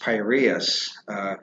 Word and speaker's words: Piraeus: He says, I went down to the Piraeus, and that word is pronounced Piraeus, yesterday, with Glaucon, the son of Ariston, to